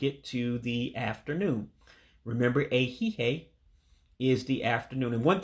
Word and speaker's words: ehihie: Now, the second I in A-Hee-Hay is eliminated, so you don't pronounce the second I. That's why I'm saying A-Hee-Hay. I'm not pronouncing that second I, and that's on purpose.